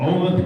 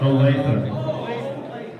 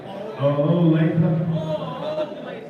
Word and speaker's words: Olathe: From Olaf, Kansas, Sean Evans. Say that wrong? Olathe? Give it away 30. Olathe. Olathe? All right. That's right, brother.